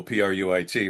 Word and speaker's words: Prewitt: Uh and that's spelled that's the that's the Mississippi spelling like. P R E Wit T. Most people go P ru, which is correct, too.